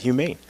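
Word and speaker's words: Humaine: back and forth in the studio how to pronounce that it's pretty simple quartet humane well actually we make it a little more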